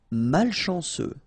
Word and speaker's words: malchanceux: Malchanceux, final X not pronounced, C-E-U, ce, malchanceux, malchanceux. Peu utile, final E not pronounced, peu utile.